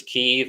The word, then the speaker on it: Kyiv: They're right outside Kiev, which the media pronounces Kyiv all of a sudden, I've noticed. I don't know why they do that. They used to pronounce it Kiev. I still say Kiev.